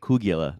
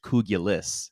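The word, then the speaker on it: kugelis: Uh we we've been calling it Kougula this entire time, but we looked it up last night and it looks like it's pronounced like it's spelled like it's pronounced kougulis.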